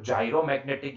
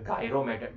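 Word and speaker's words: gyromagnetic: देखो इसका प्रोनाउंसिएशन ना आप दो तरीके से निकाल सकते हो, जायरोमैग्नेटिक या फिर गायरोमैग्नेटिक, जो भी बोलना हो आपके ऊपर है, यस और नो? कोई जायरोमैग्नेटिक बोलता है, कोई गायरोमैग्नेटिक बोलता है, इट डिपेंड्स, ठीक है?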